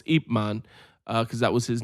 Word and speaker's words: Ip Man: who trained Bruce Lee yeah most people know Ip Man because that's how they pronounce it it's wrong it's apeman cuz that was his name thanks 1 2